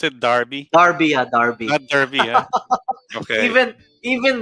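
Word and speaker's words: Derby: of england yeah so is that how you pronounce it darby darby darby okay even even reading you know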